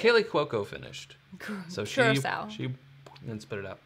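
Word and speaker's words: Curaçao: So some people say Curaco, but I think Curaco it's finished. I don't think that's how you say it's Kaylee Cuoco finished. So Curacao.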